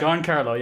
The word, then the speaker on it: Giancarlo: It's Giancarlo, isn't it? Giancarlo, yeah. Irish again, we pronounce everything wrong.